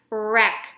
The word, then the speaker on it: wreck: that word wreck wreck however there is a W in the beginning of the word so the W in this case is going to be a silent W so we're not gonna say anything for our letter W but we know that